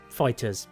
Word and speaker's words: FighterZ: for both monster hunter world and Dragon Ball fighters yes fighters as though there's EDD at the end is an S that's the official pronunciation of it according to banana demco but